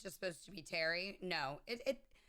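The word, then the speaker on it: Pteri: know I pronounce wrong I pronounce it pater because I pronounced the P I believe it's just supposed to be Terry no it it it's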